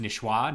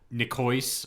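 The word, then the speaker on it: niçoise: and um uh it's it's spelled and I see with the little thing sticking out of it o-i-s-e and that's pronounced nishua not nikois or whatever as uh okay an English person uh might say it um and it's uh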